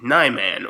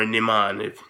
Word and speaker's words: Niman: Now, Form 6 is Naiman, or Niman, depending on your pronunciation, and it's the moderation form.